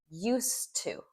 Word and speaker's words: used to: Okay, listen to my pronunciation in that expression. Used to used to. So the D, it's gone. Okay. And we really lean into the two part kind of depending.